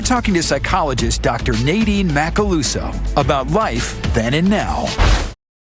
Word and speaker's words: Macaluso: Macaluso.